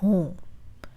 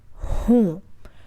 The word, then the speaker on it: हूँ: I would say मैं हूँ. मैं हूँ. मैं हूँ. There's a nasal sound in मैं and हूँ. So it's like pushing the air from the back of your mouth to the front of your mouth.